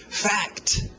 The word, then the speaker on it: fact: Fact, fact, é um K com T, fact, fact.